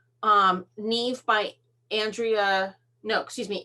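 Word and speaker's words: Niamh: want to do the i think it's pronounced neve n-i-a-m-h um neve by andrea no excuse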